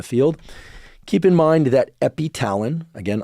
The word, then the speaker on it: epitalin: Keep in mind that epitalin, again, also sometimes written and pronounced epithalin, is designed to mimic this naturally occurring peptide, epithalamin.